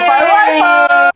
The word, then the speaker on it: Wi-Fi: It rhymes with high-five! High-five, Wi-Fi!